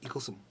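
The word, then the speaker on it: Eaglesham: in eaglesome and it's it's spelled Eagle sham but in Scots it's eaglesome and it's a tiny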